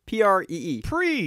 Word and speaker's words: Prix: Man, it's spelled Prix. That's Prix. It's Prix. It's French. No, it's Prix. Pree.